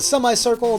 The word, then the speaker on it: semicircle: the upper left and do a semicircle to get to the upper right or semi-circle if semi bothers you pronunciation-wise the boss fights will